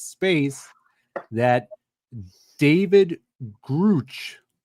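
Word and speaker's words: Grusch: an an X space that David Gruch, is that how you say his name, Brian? Uh, I think he prefers if you say Grush. Grush. I've heard it both ways.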